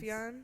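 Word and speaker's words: Sufjan: down I wrote down Stevens Illinois sufan Stevens sufan that's how you say it yeah cool um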